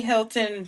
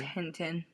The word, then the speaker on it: Hinton: he was Is it Hilton or Hinton? I think it's Hinton. It's Hinton. I think Hinton. Am I saying saying it wrong? Hinton. I said Hilton earlier and then I was like, "Oh no, it's Hinton."